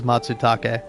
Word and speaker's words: Matsutake: Rico breezes through the Latin and Japanese pronunciation as if it were nothing. So it is Matsutake.